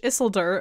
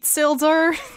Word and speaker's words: Isildur: And so now Don has created like a whole line of merch that just says Yeet Isildur, which I pronounce it in my head as Yeet Sildur.